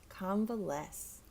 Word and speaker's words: convalesce: and the C both sound like it s convalesce oh the next one it seems obvious but